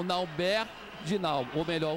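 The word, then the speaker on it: Nalbert: Então, desculpas à mãe dele, desculpas às pessoas que sabem que o nome dele corretamente pronunciado seria Nauber. Mas eu só, de mim, eu só consigo o Naubert mesmo.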